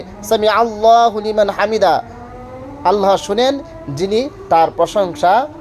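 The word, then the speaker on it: حَمْد: কেউ করবে না, লাকাল হামদ, হা হা, এটা হায়ে হত্তি, হায়ে হাওয়াজ না, হা না, হা কি পড়বেন, রব্বানা লাকাল হামদ, হামদ দেখছেন অল্পের সময় দালও উচ্চারণ হতে, হামদ।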